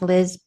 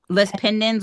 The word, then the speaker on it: lis pendens: I think it's pronounced Liz. Lis pendens, which is Mhm.